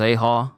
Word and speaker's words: Ajaw: voice acting voice hey J is pronounced aha okay when there are